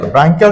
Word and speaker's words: ব্রাঙ্কিয়াল: এখন যদি বলি ব্রাঙ্কিয়াল, ব্রাঙ্কিয়াল শব্দটা আছে ব্রাঙ্ক থেকে, ব্রাঙ্ক, BRANCH, উচ্চারণ কিন্তু ব্রাঞ্চ না, উচ্চারণটা হবে ব্রাঙ্ক।